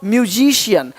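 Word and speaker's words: musician: सकता है अब देखो यदि सी के आगे आई ए हो तो सी का उच्चारण श होता है क्या होता है श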